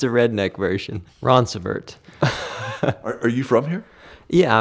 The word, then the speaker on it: Roncevert: How do you pronounce it? Yeah, we get all sorts of things. Roncrevet, Ronceverte, but we just say Roncevert.